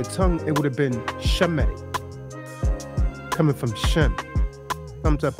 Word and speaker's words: Semitic: Not Semitic, but Shemitic. And proof that the modern Hebrew has been Hellenized is why they pronounce sounds like Semitic. They use the sound like Semitic because there's no SH sound in the Greek.